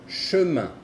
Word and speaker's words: chemin: La I y la N tienen una pronunciación de un, como el número 1 en francés. Un. Por ejemplo, chemin, chemin, chemin, chemin, que es camino.